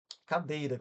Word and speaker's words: cadeira: Ó, a gente tem aqui cadeira que eu falei com vocês, né? Cadeira. Aí você faz, separa a sílaba care olha, essa daqui levou mais tempo.